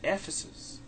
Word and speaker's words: Ephesus: Ephesus.